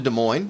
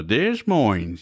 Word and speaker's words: Des Moines: said we're going to Des Moines, or something, just making some kind of joke. But no, I know that the S is silent.